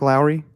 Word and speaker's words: Lowry: is it pronounced Lowry like Mike Lowry it is yeah I always call him Lori I I call him